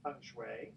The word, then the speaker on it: Feng Shui: you're also a radio show host of illuminating punch way did i pronounce i frankly and absolutely okay good on